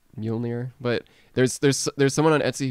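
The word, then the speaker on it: Mjölnir: The first 2 seconds of the trailer, his Mew Mew blows up.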